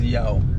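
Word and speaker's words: Yaw: Okay, so that is Yao. Yao? Yao. How do you spell that? Y-A-W. Oh, okay. Y-A-W, like Yahweh.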